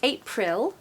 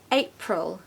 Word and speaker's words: April: it sounds sounds so in the word April it's not April no it's not the vowel sound it's awah so April try it April well done number